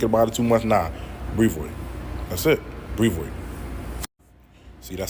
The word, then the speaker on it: Brevoort: Brevoort. That's it. Brevoort. That's the way you say it. Not Brevoort and all of that. You putting too much pronunciation or you thinking about it too much. Nah. Brevoort.